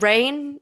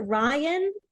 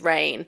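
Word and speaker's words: Raihn: to pronounce his name is it Rain r rain rain okay I didn't realize that it was I get some people being like is it Ryan and now I understand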